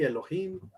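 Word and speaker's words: אֱלֹהִים: y aquí nos dice la pronunciación es así elohim es plural en un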